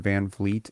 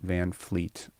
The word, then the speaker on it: Van Vliet: First of all, nepotism is spelled wrong, and Van Vliet is Van Vliet, not Van Fleet.